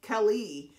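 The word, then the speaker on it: כלי: Keli is how it's said in the Hebrew.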